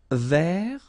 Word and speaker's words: vert: Vert. So masculine form, don't pronounce the final T.